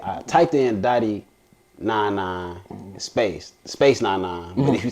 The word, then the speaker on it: DOTY99: DOTY99 DOTY99. That's how it's pronounced.